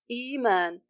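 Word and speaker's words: إيمان: Another example: iman. It is originally i'man, but the second hamza is changed to an elongation letter suitable for the kasra, which is the ya.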